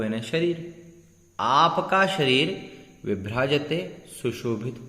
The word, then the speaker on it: विभ्राजते: देखेंगे, सिंहासने मणि मयूख शिखा विचित्रे विचित्रे विभ्राजते विभ्राजते, ब नहीं पढ़ना है, व पढ़ना है, व विभ्राजते तव वपुः वपुः, यहाँ